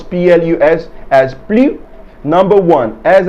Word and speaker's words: plus: than his older sister however if the adjective or the adverb begins with a vowel there is going to be a liaison between the s of the plu and the beginning sound of the adjective or the adverb resulting in a z sound in between them look at this example